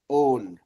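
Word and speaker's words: own: अब देखिए एक वर्ड है जिसको हम लोग प्रोनाउंस करते हैं लेकिन थोड़ा सा ध्यान इधर-उधर हो गया तो गड़बड़ा। ओ डब्ल्यू एन ओन ओन ओ डब्ल्यू एन ओन मतलब आई ओन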